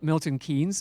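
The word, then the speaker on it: Milton Keynes: canes since we're in Milton it's OD we pronounce it mil Milton kees but he his name is pronounced kanes even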